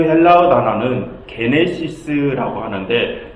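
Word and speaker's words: γένεσις: 그런데 여러분, 이 1장의 제목 게네시스 어디서 많이 들어보지 않으셨습니까? 이 헬라어를 영어로 발음하면 제네시스가 됩니다. 어디서 많이 들어보지 않으셨습니까? 바로 구약 창세기의 영어식 제목이 제네시스입니다. 그것의 헬라어식 제목이 게네시스이고요.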